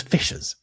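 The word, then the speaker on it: fiscas: Bearing in mind that in Old English sc is pronounced shh. So it's it was fishes.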